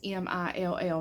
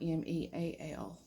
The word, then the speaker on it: Milltown: Because if I say Milltown, it's Mill, not Meal.